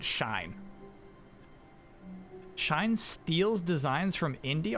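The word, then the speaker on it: Shein: generally just do um german rules where my teacher says first one does the walking second one does the talking so the e is walking but the i is the one you pronounce out loud shine shine steals designs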